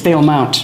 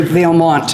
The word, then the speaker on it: Valemount: It's Valemount. Yes. Yeah, there's too many say Valemount, and this goes back